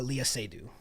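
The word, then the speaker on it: Léa Seydoux: del toro um and reminded me trying to pronounce her name uh can you say her name for me uh leah sadie thank you um as in as an artist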